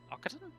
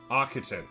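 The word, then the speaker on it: Occitan: Oaten. Oaten. Okay. So, it's it's a hard C instead of a soft C.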